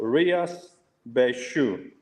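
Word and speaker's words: Rías Baixas: the Galatia region called Rias Bashu. If you want to learn how to say it by shoes, this is how you say it.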